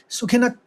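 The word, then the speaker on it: सुखिनः: न लिखा हुआ है विसर्ग है लेकिन आप उच्चारित करेंगे क्योंकि यहां पर कोई नियम आपको पता है यह विसर्ग का नियम है श है तो क का आघात लेंगे सुखिनक आप हल कैसे कहेंगे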